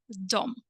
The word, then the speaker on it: de: One more time, I'd like to accentuate that the spelling is quite simplistic, only 2 letters, D plus E, when the pronunciation is a little bit more complicated, dom.